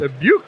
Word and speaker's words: Dubuque: Dubuque. Dubuque, like Iowa. It's like Iowa.